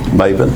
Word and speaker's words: Mebane: Would you pronounce your name the way you'd like for me to pronounce it? Maven.